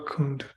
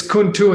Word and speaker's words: kuntu: Kewa kundu tewa tak. Oh, yeah, it's kuntu in the commentary. It should be TU. Yeah.